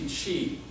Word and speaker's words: Qi: odd but XI in Chinese medicine often denotes Chi it's also written as Qi so if you ever read any Chinese herbal Book You'll see Chi the life force the energy that's in all